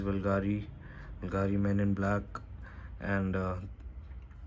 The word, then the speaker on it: Bvlgari: it is a matte black bottle which says bulgari men in black and uh you know this perfume this it is written as fulgari but it's pronounced as bulgari so yeah so you this house is very